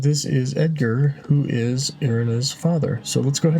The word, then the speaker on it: Irina: Okay, so apparently I've been saying the name wrong. It's Irena, not Irina.